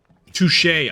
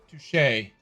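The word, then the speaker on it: touché: one's expense by another it is french shea is a french word in french it's touche yeah just like that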